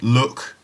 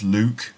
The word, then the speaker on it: Luke: And I meet lots of people who can't pronounce my name and they call me Look or maybe Luck. But it's not Look or Luck, it's Luke, of course.